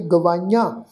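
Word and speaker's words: ਗਵਾਈਆ: भुखां सब गवाइयां, गवाइयां, गग्गा वावे नूं कन्ना, ईड़ी नूं ब्यारी, ऐड़े नूं कन्ना, उत्ते बिंदी सहित नासक उच्चारण करांगे गवाइयां।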